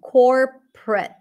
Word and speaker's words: corporate: isn't a syllable here there are two syllables in this word core so it's not even awah it's nothing okay there isn't as corporate